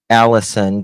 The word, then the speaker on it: Allizon: So it's Allison, but it's spelled with a Z. Not like Liza with a Z, not Lisa with an S, because Lisa with an sorry. Um Allizon, but it's pronounced like Allison.